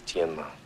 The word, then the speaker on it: Tianma: The correct pronunciation is Tianma.